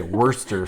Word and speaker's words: Worcestershire: Is the Shire silent, or do you say the Shire? I've heard some people say it's a silent Shire. The whole Shire is silent. Yeah, the whole Shire. You're just supposed to say Worcester sauce.